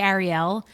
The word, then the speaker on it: Arielle: That's the only question that I allow here because I say Ariel, but then when people say to me like, "Oh, no.